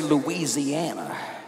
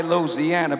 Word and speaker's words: Louisiana: Now, Louisiana, you notice I say it right? I don't say Louisiana. I say Louisiana, baby.